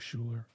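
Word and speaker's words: Schuyler: one more time s-c-h-u-y-l-e-r yeah it sounds like Schuler okay um but she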